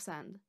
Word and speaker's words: 三: The Middle Chinese pronunciation was /*sɑm/. This becomes sān in Chinese, さん san in Japanese, and 삼 sam in Korean.